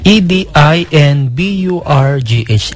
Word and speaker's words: Edinburgh: ay unang nilabas sa Edinburgh Scotland Yan po ang pronunciation niyan ha e d i n b u r g h Edinburgh talagang parang Scotland Paano ko po nalaman